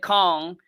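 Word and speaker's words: Khang: It sounds like Kong, but it's spelled as K-H-A-N-G, and my last name is King, K-I-N-G.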